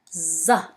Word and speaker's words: ظ: Zain or zal pronounced as just a regular Z, but za pronounced as thick Z. Z, I mean, like z, z. And you will know the difference in the words. The first word is zarf.